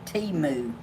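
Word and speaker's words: Temu: know tumor they say they say pronounce it Teemu but everybody keeps asking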